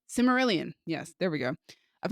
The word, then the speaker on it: Silmarillion: I've never read the I can never pronounce the name. Cimmerillion? Silmarillion.